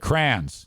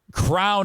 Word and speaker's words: crayon: But I have said crayons. Get your crayons. Let's color with the crayons. Crown is out. If you're around someone that says crown, leave that person. It is a crayon.